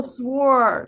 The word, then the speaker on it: sword: I think especially with oh, sword, sword, and don't pronounce the W.